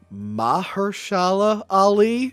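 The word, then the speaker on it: Mahershala Ali: Mahersala Ali.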